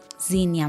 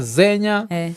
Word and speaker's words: Zinia: Alafu jina uspronounce waje? Zinia. Zinia. Yes. Okay, kwa kila mtu niambia kuna watu wamesema Zenya. Alafu sasa hii Zenya unajua na kwani ni Kenya ama ni nini? So ni Zinia.